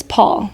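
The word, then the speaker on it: Pwyll: So she was in the forest, and she happens upon this king, and his name is Paul, but not spelled like the American Paul.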